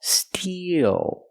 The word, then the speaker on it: steel: steel we use the long e plus the dark L Steel e like green beans